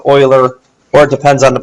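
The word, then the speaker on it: Euler: If the graph has no vertices with odd degree, then it has at least one uler circuit. Uer. Uler. I think it's actually pronounced oiler.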